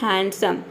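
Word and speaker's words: handsome: हम हैंडसम बोलते हैं यहां पे जो डी लेटर है वह साइलेंट हो जाता है देखिए मैंने ये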